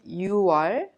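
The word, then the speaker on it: 유월: June is pronounced 6월. So you say 6월 26일. 26일 actually. Do you remember the pronunciation of 16th in the dialogue in the beginning of this unit? Yes. 26th is pronounced 26일. Repeat, 26일. Since October is pronounced 10월, when you say October 21st, you say 10월 21일. Please remember 6월 and 10월 are differently pronounced unlike the other names of the months.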